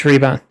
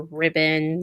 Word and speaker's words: Ribon: Because it's with a singular B. It's Rebon.